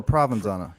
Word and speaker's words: Provenzano: Provenzano or Provenzano? It is Provenzano. Forgive me, I am used to saying Provenzano, but Provenzano is the correct pronunciation.